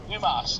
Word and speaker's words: Dumas: Dumas, not dumbass.